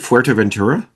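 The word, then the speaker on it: Fuerteventura: Fuerto Ventura.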